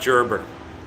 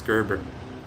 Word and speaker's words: Gerber: that's my last name it's not gerber it's gerber the the hard g there well i mean